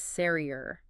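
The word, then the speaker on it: سرير: The word for bed is ser. Roll that R just slightly if you can.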